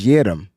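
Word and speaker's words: Yiadom: It's Yadam. It says like Lil Jon.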